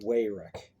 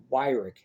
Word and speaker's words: Wyrick: The SeaWolves need Wayrick. They need him. The success of this year really hinges on Wayrick. Actually, I'm mispronouncing it, and I caught myself before on that. Wyrick. His name is Blake Wyrick, and I apologize.